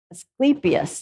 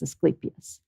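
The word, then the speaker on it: Asclepias: And it's, Asclepius is how you say that one. Those are all these words that you only ever write or read. You hardly ever say these things, but it's Asclepius.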